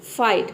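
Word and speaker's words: fight: अब देखिए यहां पे किसी भी वर्ड में अगर आई जी एच डी आता है तो इसमें जो जी एच लेटर है ये जी एच ये साइलेंट रहता है ठीक है हम इसको प्रोनाउंस नहीं करते यहां पे केवल आई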